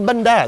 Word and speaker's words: bánh đa: This is bánh đa. Bánh đa. It's like bandana. Ah, without all the extra syllables.